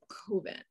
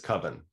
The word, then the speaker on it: coven: I'm like, it is not pronounced coven. Yeah. No, that one I can kind of understand. Banal, Bano, maybe Danube, you know, but come on, it's coven. It's coven, guys.